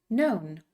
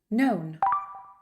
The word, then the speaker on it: known: you know remember that when you use K and N together the K is silent so no new known no new known to lie lie lay